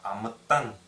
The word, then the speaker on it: атан: П К Ч Ш произносить их следует как как будто их две например Атан не Атан а Атан именно как две как сдвоенная Т вот здесь а Атан